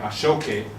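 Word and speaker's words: aṣọ òkè: And this is, again, something that's known, Ashoki, or as it's pronounced there, Ashoke, right?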